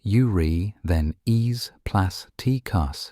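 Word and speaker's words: Eurythenes plasticus: One now well-known example is the amphipod urethanes plasticus pronounced urri then e plus tus described from another trench.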